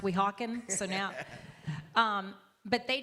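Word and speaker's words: Weehawken: I just loved finally figuring out how to pronounce We Hawken.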